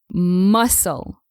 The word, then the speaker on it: muscle: drop the consonant s you should always say muscle muscle and not MUSC let's see an example after